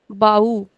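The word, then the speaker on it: baú: Again, accent is on the last syllable. Bahu.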